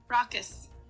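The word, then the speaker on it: raucous: s r a u c o u s rockus rockus rockus Gruff shouts Ry in the streets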